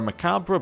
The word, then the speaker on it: macabre: new guest we have it's added to our macabre banquet now I have I did actually see